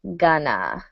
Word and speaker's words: going to: are you are important pronunciation note going to sounds like Ghana when we're talking about